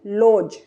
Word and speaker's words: lodge: जी, डी के बाद जी, तो इसे हम लोडज नहीं पढ़ेंगे। यहाँ पर भी हम डी को काट देंगे, भूल जाएंगे कि डी है, तो इसे हम क्या पढ़ेंगे? लॉज, लॉज।